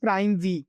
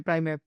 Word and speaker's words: Primev: going in all the I think it's pronounced Prime V or how we how we Prime F okay okay Prime F so before we go